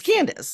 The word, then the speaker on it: Candace: Candace. It's Candace. Yeah, it's Candace. Candace. It's Kansas with a D instead of an S after the N.